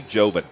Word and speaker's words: Jovan: years ago and forgot, but it's actually Jovan. Jovan Sparkman. All right. And so I apologize that we were pronouncing his name wrong, Jovan Sparkman.